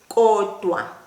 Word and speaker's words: kodwa: In isiZulu that is kodwa. Kodwa. Now remember how to pronounce the K. The sound comes from right at the back of your mouth.